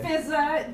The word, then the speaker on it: Fizaa: Yeah, and I'm Fizaa. Just find me online at Fizaa. One of the A's is silent, but just to remind you.